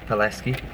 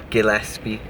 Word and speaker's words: Palleschi: Yeah, it's Palleschi. Okay, thank you. Bye bye. Guys always get my second name wrong. He had it down as Gillespie. A little bit more common than Palleschi, I think.